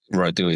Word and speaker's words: Radu: Uh my first name um it can Rui is absolutely perfect. There is a Eastern European way of saying it. U but the rolling R sometimes is difficult.